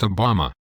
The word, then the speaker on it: Obama: Canon yes of course and my name is pronounced Obama that's what I said Obama oh never mind you mean Frank cannan is